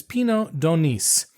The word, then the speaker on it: Pinot d'Aunis: And the grapes, as far as we know, is Pinot d'Aunis. Again, you pronounce the S.